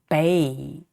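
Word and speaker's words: 八: So the initial is pronounced bo, and this final is the a. So together, bo, a, ba. And this tone is, the first tone is flat. Try to make sure you keep it flat from the beginning to the end.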